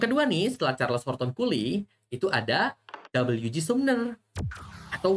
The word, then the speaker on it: Cooley: Dibacanya Cooley ya, bukan yang aneh-aneh ya, bukan yang lain ya.